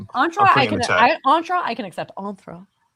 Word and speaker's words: Entra: You already have pronunciation. Entra is the correct pronunciation. Entra Entra I can accept.